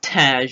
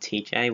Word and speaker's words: Tej: pronounced his name right, I thought the other guy was called TJ, but it's Tej, not TJ, whatever.